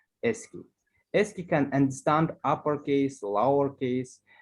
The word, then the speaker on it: ASCII: the original characters uh ascii sk is a code used by most computers for encoding is known as ascii american standard code for information interchange pronounce it sq ascii can understand uppercase